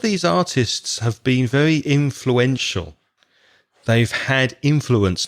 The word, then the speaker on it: influential: very influential in fluenta influential the stress is on the first syllable to have influenced a